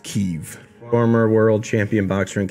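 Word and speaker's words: Kyiv: you pronounce that k a y i v keeve the russians pronounce it as give but it's pronounced kiev former world champion boxer and kickboxer their bodyguard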